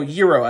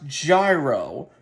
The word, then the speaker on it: gyro: You know, Yuriro as like the food item from Greece. Now, no, it's not pronounced gyro.